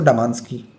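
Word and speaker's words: Damansky: और रूसी कहते हैं इसको डमांस्की। मैं स्पेलिंग करता हूं डी एम ए एन एस के वाई डमास्की।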